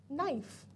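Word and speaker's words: knife: नाइफ. अब नाइफ के अंदर हमें पता है कि हम के को साइलेंट रखते हैं.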